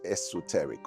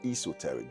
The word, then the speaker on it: esoteric: The word is esoteric or esoteric depending on how you pronounce it.